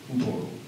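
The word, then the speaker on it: Hoopoe: How do you pronounce that one? Hoopo.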